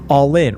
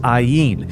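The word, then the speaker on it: aion: That same culture gave us a word I keep coming back to, all in, or properly pronounced iyen.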